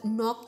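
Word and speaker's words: knock: इन the following words तर नॉक या शब्दातील के हे अक्षर अनुच्चारित आहे म्हणजे सायलेंट आहे जरी आपल्याला त्या स्पेलिंग मध्ये के दिसत असला परंतु के चा उच्चार होत नाही याचा अर्थ ते लेटर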